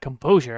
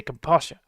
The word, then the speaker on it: composure: composture composure composure oh you need to try to say it like that composure and not say compassion self-control ah he's struggling